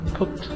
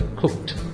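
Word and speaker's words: cooked: ചെയ്തു എന്ന് പറയാനും ഐ കുക്ക്ഡ് എന്നാണ് നമ്മൾ പറയുന്നത്. ഇവിടെ നിങ്ങൾ ഉച്ചാരണം മനസ്സിലാക്കണം. കുക്കഡ് എന്നല്ല അതിന്റെ ഉച്ചാരണം മനസ്സിലാക്കുക. കുക്ഡ് ടു ആണ് പറയുക.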